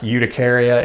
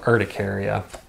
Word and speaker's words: urticaria: urticaria means am I sometimes you'll hear me pronounce eudicaria instead of urticaria and the reason is is